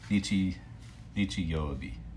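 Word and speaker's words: 日曜日: Nichi Yobi.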